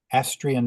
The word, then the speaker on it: Astrian: correctly it's a s t r i aan asrian mountain and it was named after his granddaughter